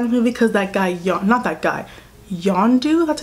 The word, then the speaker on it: Yondu: And I did get really sad in the movie because that guy, Yondu, that's how you pronounce his name, he died.